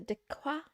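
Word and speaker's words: deque: What is a deq? What is a dequa? Is that French? What is this word? What is this word? It is pronounced like deck, okay.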